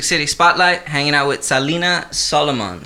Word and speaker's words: Salina Solomon: Hey, Music City Spotlight, hanging out with Salina Solomon, right? Is that how you pronounce it? Oh, yeah. Did I do it right? Yeah, you did it right. Well, you did it in like a Spanish accent, but I'm feeling that.